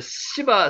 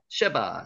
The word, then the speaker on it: 쉐바: 이거는 이제 시바 시바 요왕이라고 우리가 잘 알고 있는 내용이죠. 요거는 실제로는요 발음이 아시죠? 쉐로 되죠. 쉐바 쉐바입니다.